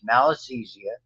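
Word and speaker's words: Malassezia: names of fungi fungi this is called it's pronounced malisthesia And it grows again in areas where there's a lot of oil.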